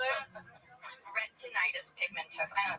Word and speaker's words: retinitis pigmentosa: So he has double pigmentosa, huh? Yeah. Double pigmentosa? Yeah. Wasn't that, what is it? How do you say it? Retinitis pigmentosa.